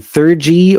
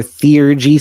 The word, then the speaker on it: theurgy: And it's and theurgy or theurgy, some people pronounce it as.